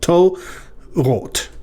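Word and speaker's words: תוֹרוֹת: holam vav is the second syllable ro, except that it's followed by a consonant that isn't marked at all. So it's as if it has a silent shava under it, meaning it closes the syllable. To rot, two syllables.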